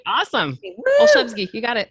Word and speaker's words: Olszewski: Olszewski, you got it. Olszewski.